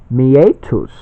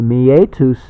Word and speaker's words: meatus: happens is that the meatus, which is what I like to call the urethral opening, meatus is spelled M-E-A-T-U-S. So it's kind of meet us. You know, meet up. Well, this is meet us.